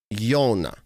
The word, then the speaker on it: Joona: Joona. Yeah. So O is like like if you had OH, O. So just the first part of that O is our O. Okay. Joona.